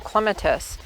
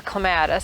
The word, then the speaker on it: clematis: some cuttings from some clementus or clematis however you want to pronounce it and I have some